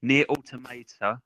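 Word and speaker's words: NieR: Automata: No, or Nier Automata or Oh. Nier Automata. It depends on how you want to pronounce it with your accent.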